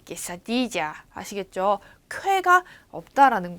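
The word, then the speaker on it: quesadilla: 여러분들 약간 스페인어권에 관심을 가지면 깨사디아라는 아주 맛있는 또르띠아에다가 치즈를 막 얹은 요리를 먹어보신 분들이 있을 텐데 그것도 이렇게 QUE가 적혀 있어요. 쾌가 아니에요. 깨사디지아 이렇게 읽어야 돼. 깨사디지아 아시겠죠?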